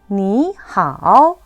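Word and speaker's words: 你好: 삼성 더하기 삼성일 경우에 앞에 있는 삼성이 이성으로 바뀝니다. 삼성 뒤에 1, 2, 4 경성이 오면은 앞에 있는 삼성이 반삼성으로 바뀌었었죠? 전체 한번 읽어볼게요. 你好, 老师, 시작.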